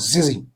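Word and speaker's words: tzitzit: That's some call it tassels, some call it fringes, but pronounced zizi, fringes.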